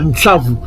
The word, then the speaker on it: Ntsavu: Donc, au lieu de dire Ésaü, le Aïn n'est pas prononcé, donc il reste juste le SV, le S et le Vav. Or, le Vav a le son de quoi? De OU. Donc, les Bantous prononcent ça bien, Ntsavu.